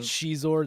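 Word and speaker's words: Xizor: Shizor, that's how you say it.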